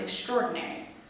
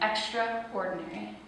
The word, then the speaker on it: extraordinary: This word is interesting because we actually molded it into a sounding different than it is spelled. We leave out the A, making it sound extraordinary, when we should be saying it extraordinary.